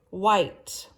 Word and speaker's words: white: All right, and then number 17, white. She has white hair. W-H-I-T-E. White. White. So there's a silent E at the end. We don't hear the E.